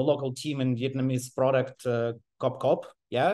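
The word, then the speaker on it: Cốc Cốc: Okay, up till last month, I was managing the local team in Vietnamese product, Cop Cop. Yeah, it's pronounced like Cop Cop in Vietnamese.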